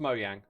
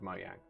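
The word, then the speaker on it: Mojang: It's pronounced Moyang. It's a Swedish word. When the company was formed, it was called Moyang, right?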